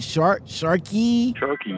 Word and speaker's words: Sharkey: How do you pronounce the company? Sharkey, right? Sharkey.